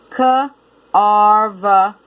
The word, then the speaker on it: carve: VE says V. You can look at it as the E is silent or as the V and the E say V together. Carve, carve.